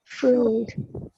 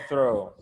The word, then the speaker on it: through: Through. Tá? Through. Não é throw.